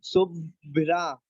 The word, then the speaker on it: शुभ्रा: जैसे ऊपर आप देखो, ऊपर लिखा हुआ है शुभ्रा, शुभ्रा, रा शुभ्रा, तो रा का इसका पूरा उच्चारण होगा और भा का आधा उच्चारण होगा।